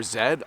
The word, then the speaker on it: Z: Although as a child we watched the American version of Sesame Street and they tried to get me to learn it as the letter Z. But this in Canada is definitely the letter zed.